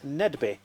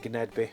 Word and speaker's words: Gnedby: my attention to this Nedby. And yes, that is how you pronounce it. I've been calling it Gnedby for years, but the G is silent.